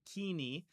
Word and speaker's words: Koine: be called co uh we'll pronounce it kini kini um we know more